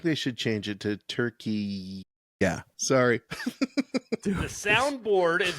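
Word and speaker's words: Türkiye: pronouncing it different now right let me just pronounce it for you you ready so the country of Turkey for you know since 1920s when they became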